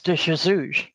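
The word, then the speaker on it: de Jesus: and also to jesus in english we say to jesus and portuguese is de chazouz okay how you say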